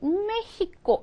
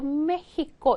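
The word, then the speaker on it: México: 얘가 멕시코 아아 그런데 이거 스페인어로 어떻게 냐면 메히코 이렇게 읽어요 메히코 멕시코랑 안 하고 메히코 이렇게 읽어요 예 이거 원주민 발음이라 그렇게 읽어요 또 이거요 텍사스 아아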